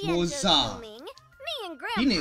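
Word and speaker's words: Moze: Oh, it's pronounced Moza.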